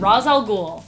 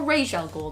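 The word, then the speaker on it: Ra's al Ghul: that one number five Rosal ghoul or Rael ghoul depending on how you want to say it like Batman Rosal ghoul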